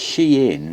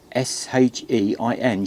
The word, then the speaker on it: SHEIN: I think I was pronouncing it wrong, and I looked online, and it's Shein. That's some S-H-E-I-N, Shein.